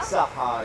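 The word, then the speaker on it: صحة: Wait, how do you say Yeah, it? saha. Saha? Saha, exactly.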